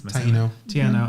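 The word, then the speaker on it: Taíno: Taino, I always said it wrong.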